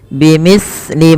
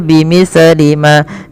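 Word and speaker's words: بمثل: Bimithli ma, hati-hati di dalam melafalkan huruf sa, jangan sampai sa ini memantul ya teman-teman, atau dia membacanya dengan huruf sin. Contoh memantul bimislima, bimislima itu memantul, atau dia membaca dengan sin bimislima.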